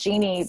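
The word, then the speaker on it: Jeanny: It's pronounced Jeannie, but it's spelled Jean as in Nancy Y, which always trips up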